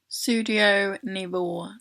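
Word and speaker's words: Sudio Nivå: are called studio navel sudio navel not studio nearby if you want see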